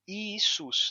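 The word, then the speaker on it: Ἰησοῦς: I Então ficou isus um grego hoje se você for na Grécia vai pronunciar o nome isus não mais ius sim isus com i i isus já em latim quando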